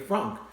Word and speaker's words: Franc: said that you like Cabernet Franc not Frank have any from now